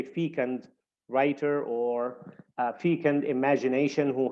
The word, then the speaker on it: fecund: two slashes uh that the stress is placed on Feen the first syllable Fe we say feon all right able to